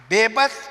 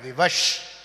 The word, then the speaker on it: विवश: Bebas is mispronunciation of a Sanskrit word vivash. When you mispronounce va, you say ba, like ban.